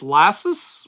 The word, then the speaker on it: Lassis: In case you're wondering how it's pronounced, it's how you would say molasses without the mo. So, it's Lassis.